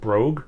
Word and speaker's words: Brogue: let the oh um I pronounce it brogue fly brogue uh b-r-o-g-u-e don't be Daft enjoy uh